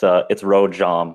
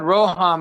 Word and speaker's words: Rojom: It's Rojom with like a hard J. I knew it. I was saying Rojom, and Shit. everyone said Roham, and I was like, crap, dude, I really messed that up.